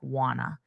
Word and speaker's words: want to: In that case, in the native speech, I change want to. When I did it slowly, I pronounced to more as to, want to. But at a natural pace, it's going to be more reduced and it's going to sound like wanna.